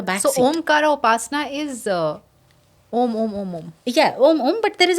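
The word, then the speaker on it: ॐ: it is always so om is a combination of three letters but while chanting them together we have to pronounce it as Om and that's what shastra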